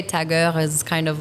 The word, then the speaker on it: Tag Heuer: And I believe there's a correct pronunciation for it in French. For Tageur. Tag Heuer.